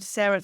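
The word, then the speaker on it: Cera: my company is called Sarah Thrive so it's c e r a but it pronounced like my name Sarah but it's Sarah Thrive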